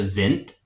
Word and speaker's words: sind: And I know it ends in a D, but words that end in a D make a T sound in German. So it's wir, we, wir sind, we are, uns in